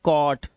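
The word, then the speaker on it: caught: तो इसे पढ़ेंगे कॉ, और जो हमारा जी एच टी है इसमें जी एच को हमेशा हम क्या रखते हैं, साइलेंट रखते हैं, तो हम क्या पढ़ते हैं, सिर्फ टी को पढ़ते हैं। तो ये हो गया कॉट, ये कॉज, नॉट, नॉट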